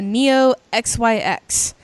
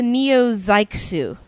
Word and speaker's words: Neo XYX: is 15 years old actually it's a Neo zyu is how it's pronounced so I said it incorrectly and it's like uh